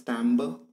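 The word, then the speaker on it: timbre: in music words september it is pronounced as timber describes the quality of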